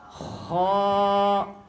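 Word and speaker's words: خ: খা হবে না, কি হবে না? খা বললে এটার উচ্চারণটা পাতলা হয়ে যাবে, কিন্তু এটার উচ্চারণ হচ্ছে কি? মোটা। কিভাবে হবে? খ। এটার একটা কৌশল হলো, সংক্ষিপ্ত আকারে একটা কৌশল হলো কি, আমাদের গলায় কাশ বাইজা গেলে আমরা গলা সাফ করি না? কিভাবে? এভাবে করে গলা সাফ করি না? এই খ যেভাবে গলা সাফ করতে আওয়াজ হয়, এইভাবে আওয়াজ করলে এই খটার শুদ্ধ উচ্চারণ হয়ে যাবে।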